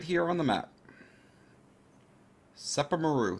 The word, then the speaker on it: Sepermeru: here on the map SEPA Maru that's how I pronounce it I called the set